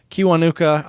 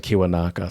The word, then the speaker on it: Kiwanuka: the problem by michael kiwanuka on our song on the pod playlist uh and no i said his name wrong i said kiwanaka sorry no worries i